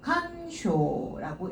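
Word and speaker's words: 感想: 근데 발음이 얘는 칸, 앞에는 똑같은데 뒤에가 발음이 달라요. 상주상자는 쇼 라고 읽어야 돼요. 칸쇼라고 읽으시면 돼요.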